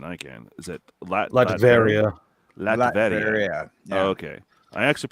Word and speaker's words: Latveria: Latveria. Yeah. Oh, okay. I actually pronounced that one right. Nice. I thought it was Latvenario, but that's cool.